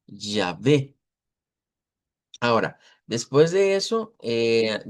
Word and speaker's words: Yahvé: pensamos en el hebreo, en el hebreo transliterado a nuestro alfabeto se escribe Yahvé con y ya. Yahvé.